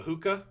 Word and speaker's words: hookah: I've always been called told they're called a hookah. Um, it's spelled H O O K A H.